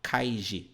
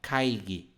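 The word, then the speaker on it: 会議: internacionais aí de romanização Então quando você vê isso aqui ó você não vai falar kaig você vai falar kaig OK kaig isso vale para todos os casos que você tiver um G se você tiver assim ó também você vai falar g e não G Beleza então temos aqui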